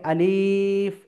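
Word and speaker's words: ألف: অর্থাৎ এই ক্রস চিহ্নর অর্থ হলো যে আমাকে আলিফ এইভাবে টেনে পড়তে হবে না। আমাকে পড়তে হবে কিভাবে? আলিফ। কোন টান হবে না।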